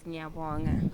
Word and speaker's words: ngiyabonga: Yes, ngiyabonga.